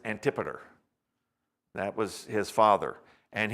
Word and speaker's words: Antipater: father's name was antipater it's spelled antipater but it's antipeter that was his father